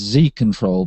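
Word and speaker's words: XiControl: can now get the i'm guessing that's pronounced z control but it's spelled x i control um and that will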